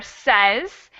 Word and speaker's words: says: say yeah the second the second word there says has an e sound even though we have an ay spelling so the other ones